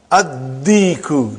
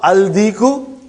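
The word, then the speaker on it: الديك: Addiku, not aldiku. Are you with me? Addiku.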